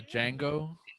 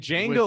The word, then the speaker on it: Django: was Didn't he do Django too? Or was Yeah. this- yeah. the D is silent. And Django With was hey, Wood.